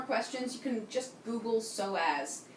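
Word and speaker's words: psoas: you can just Google soaz it's an amazing muscle it's terribly neglected for most of us it's spelled PS OAS so as with a p the p is silent all right feel free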